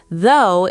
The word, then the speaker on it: though: Though is pronounced though, one syllable, rhymes with go.